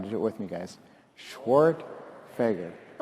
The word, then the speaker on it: Schwerdtfeger: for anyone who's curious the right way to pronounce it is schwart fager come on do it with me guys schwart fager it's perfect i live